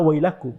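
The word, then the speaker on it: ويلكم: Enggak enggak sadar bahwa ada kata wailakum. Bahkan itu padahal itu orang Arab. Sehingga mau nulis welcome menggunakan wau ya lam kaf mim. bacanya welcome. Padahal itu dalam bahasa Arab fasih disebut dibacanya wailakum.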